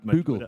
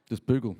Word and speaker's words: Boegl: Yeah, normally the OI is like the in German we call it Umlaut. It's like the O with the 2 dots on it.